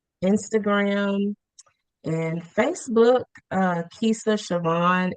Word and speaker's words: Siovan: I ain't been putting no sh That's like sh. I've been saying like Savian or something.